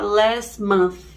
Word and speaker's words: last month: Só que você não vai pronunciar muito esse Tzinho, não. Vai ficar last month, o último mês.